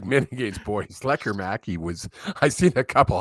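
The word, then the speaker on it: Lekkerimäki: Between Lecker Mackey, which is very different than how I thought you pronounced his name, but it is Lecker Mackey.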